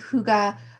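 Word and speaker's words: hygge: me uh pronounce it again it's called It's pronounced Huga it's spelled Hy G G and it's a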